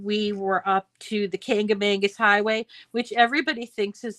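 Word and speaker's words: Kancamagus: me about it, and they were trying to say Cakamakis, and because that's how it's spelled, it's Kangamangas.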